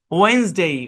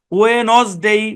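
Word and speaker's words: Wednesday: এখানে বাংলা যে লিখছি, আপনি যদি এটাকে বাংলার মতো করে উচ্চারণ করেন, ওয়ে নজ ডে, ওয়ে নজ ডে, আমি কিন্তু নজ ডে বলি নাই, ওয়ে নজ ডে বলি নাই, আমি বলছি কি ওয়েন, ওয়েন্সডে, ওয়েন্সডে।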